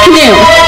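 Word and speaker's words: Khnum: The H is silent.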